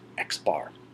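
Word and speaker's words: x̄: is referred to by an X with a bar over it and it's pronounced X bar if it helps this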